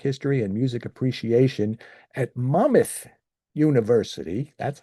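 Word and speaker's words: Monmouth University: He currently teaches jazz history, American music history, and music appreciation at Mammoth University. That's how he told me it's pronounced.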